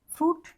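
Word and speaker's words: fruit: आई से मिलकर कोई वर्ड बने तो हमारा आई साइलेंट होता है। यानी कोई भी वर्ड बन सकता है। फ्रूट यहां पे हमारा आई साइलेंट होता है। हम आई तो नहीं बोलते फ्रूट या सूत नहीं बोलते।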